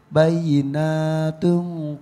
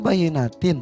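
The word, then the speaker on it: بينات: Wa iza tutla alaihi ayatuna bayyinatun qalal ladzina. Betul enggak? Salah. Yang salah yang mana? Tadi salah. Harusnya apa? Harusnya bayyinatin.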